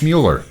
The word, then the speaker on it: Mueller: There's Yeah, I mean, you can say all kinds of words that begin with an M in different ways. It's Mueller.